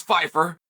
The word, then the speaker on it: Pyfer: you probably don't know how to spell or pronounce Fifer and the other side